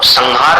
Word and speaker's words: संहार: संहार अब संहार का कैसा उच्चारण है? वो जो अनुस्वार है उसको ह में मिलाना पड़ता है और जहां से प्रारंभ होगा अनुस्वार वहां पर समाप्त होगा।